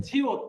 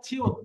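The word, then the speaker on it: 치읓: ওকে, তারপরে এটা আছে ছিউত, বাংলায় ছিউত, ছ, ছয়ের মতো। তাহলে প্রথমে বসে উচ্চারণ হবে ছ, আর পরে বসে উচ্চারণ কি হবে? ত। ত। পরে মানে নিচে, নিচে যদি বসে তাহলে উচ্চারণ হবে ত।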